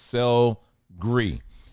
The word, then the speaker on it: sel gris: Also French gray sea salt, which is is actually pronounced sel gris.